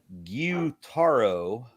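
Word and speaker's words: Gyutaro: and says so Aaron guitaro is pronounced gutaro he's a demon who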